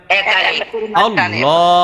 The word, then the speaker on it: আল্লাহ: পরিমাণ টান দিবেন আল্লাহ বলেন সবাই আল্লাহ আল্লাহ আল্লাহ শব্দের লামটা মোটা করবেন কারণ আল্লাহ শব্দের ডাইনে জবর আছে না নাই আল্লাহ বলেন সবাই